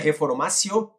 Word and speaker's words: reformatio: o princípio da non reformatio, a gente coloca com o T, mas lê como se fosse o som do C, é latim. Então escreve reformatio e pronuncia reformatio impejus.